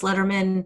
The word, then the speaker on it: Lederman: It's with 2 L's, Lederman, spelled with a D, but sounds like David Letterman, .com, and you can find all the ways to find me.